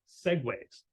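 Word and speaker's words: segue: of what are called Segways so s-e-g-u-e and that is pronounced Segway um and that is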